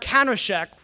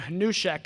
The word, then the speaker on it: Hanushek: credit for his work, I pronounced his name Hanushek, and then a year ago I met him and complimented him, and he promptly told me that that's not how you say his name.